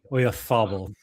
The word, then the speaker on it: Oyarzabal: You need a TH with the Z. Oyarzabal.